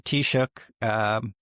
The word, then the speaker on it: Taoiseach: But you're the Taoiseach. How's my Irish pronunciation there? It's good. It's good. Yeah. Not bad for a Yank.